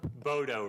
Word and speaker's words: Bodo: I'll try not to do misjustice to your name, but is it Boda? Bodo rhymes with Frodo.